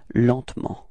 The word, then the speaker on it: lentement: And then, well, usually in French we don't really pronounce this E between T and M, so we get this pronunciation lentement, repeat, lentement, okay?